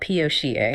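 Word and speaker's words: PAUCA: It's called POCA. Yes, spelled P-A-U-C-A and pronounced POCA.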